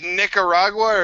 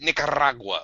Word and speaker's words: Nicaragua: And is it Nicaragua or is it Nicaragua? Like, it's a question of whether or not you put any emphasis into it. It's not even close. You have to roll your R's.